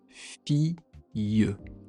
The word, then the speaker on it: fille: Il y a le son ye à la deuxième syllabe. Ou alors, un autre mot, une fille.